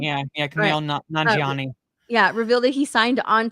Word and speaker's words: Kumail Nanjiani: Kumail Nanjiani? Yeah, Kumail Nanjiani.